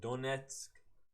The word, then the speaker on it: Donetsk: How do you pronounce it? Donetsk.